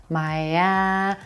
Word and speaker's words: Miami: second syllable is the Black Cat a vowel Maya this is our stressed syllable so we're gonna stretch that vowel sound